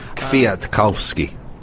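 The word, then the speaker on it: Michał Kwiatkowski: gets into the hills via to calve ski yeah thank you thank you you know a native Polish speaker Richard Moore they're correcting my pronunciation Mark Cavendish everything's been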